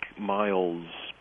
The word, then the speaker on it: miles: My Latin is not good, but I think Miles, pronounced the Latin way, is the word for soldier.